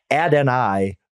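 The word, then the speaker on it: Adonai: I I learned this by the way Fitz ad n i Mitchell that's how he pronounces it I look he's a boomer bus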